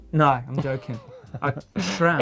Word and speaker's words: SRAM: Leon Rubin, why does Blake always pronounce SRAM as SHRAM? Because I thought it was spelt with an E. No, I'm joking. SRAM.